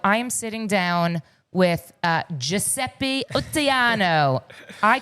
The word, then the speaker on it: Giuseppe Ottaiano: Did I say it correctly? Yeah, you said it correctly.